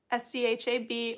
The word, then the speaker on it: Schab: And on Facebook, you can find me, Schaub, SCHAB, or actually pronounced Schab. You have to hawk a phlegm.